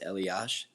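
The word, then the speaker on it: Elias: Elas like but it's pronounced Elash.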